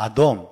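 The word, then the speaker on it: אדום: 그래서 붉다라는 단어는 히브리어로 아돔이라고 합니다. 아돔.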